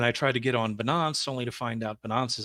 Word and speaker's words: Binance: also so you don't catch Flack it's actually pronounced binance I don't care okay it sounds funny you